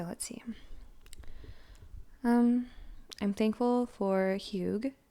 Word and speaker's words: Hygge: I'm thankful for Hygge. It's this thing I've gotten into recently. HYGGE, and I am 1000% sure and confident that I'm pronouncing that correctly. It's Danish, and it's this like